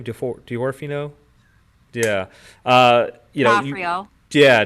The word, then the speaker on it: D'Onofrio: D'Onofrio. Yeah, D'Onofrio.